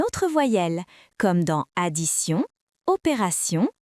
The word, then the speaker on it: opération: Dans le mot attention, T se prononce S.